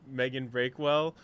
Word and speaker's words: Meighan Brakewell: But besides that, though, I'm here with another guest, Meighan Brakewell.